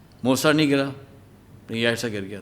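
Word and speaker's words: Jajce: जे जे सी ई लेकिन उसके जो प्रोनाउंसिएशन है वो है यासा ठीक है तो हम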